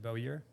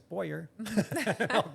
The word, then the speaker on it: Bowyer: and he told me I've been saying your last name wrong pretty much for as long as I've known you. I said Boer. Oh yes. No. And he's like nope. It's Boyer.